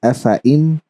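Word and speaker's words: أفإين: Then you have this afaim, afaim, because there was a 0 on top of alif, it became afaim.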